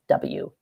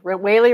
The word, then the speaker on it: Wehle: I mean, it's said like a whale, but it's Wehle. So, right. There it is. Wehle rhymes with daily.